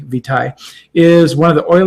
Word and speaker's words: lignum vitae: some exotics that are lignum vitae or vitae or they tie a lot of pronunciations I suppose Latin would be V tie is one of the